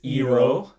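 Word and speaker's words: Iroh: ab aang is ong iro is eero which i actually don't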